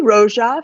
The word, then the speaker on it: Rosa: research went into crafting am I pronouncing Rosa right is it Rosa Fisher it would be Roja Fisher yeah that's right you